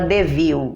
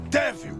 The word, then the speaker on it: Cruella de Vil: Porque caso você não saiba, finalmente lançou o mais novo live action da Disney, Cruella de Vil. Se escreve Devil, mas a pronúncia é Devil.